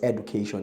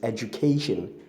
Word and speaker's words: education: And the next word we have there is education, which people wrongly pronounce as education. It is not education, it's education.